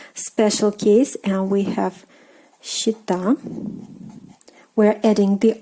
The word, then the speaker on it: счета: So счет, but счета, счета, счет, счета.